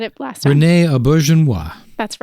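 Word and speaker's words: Auberjonois: say it you said it last time Renee ainoa that's right Renee ainoa plays FL again who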